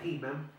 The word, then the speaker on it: Hyman: O sea que la variable, repito, según este señor se escribe Hyman, se pronuncia Hyman, dice que las variables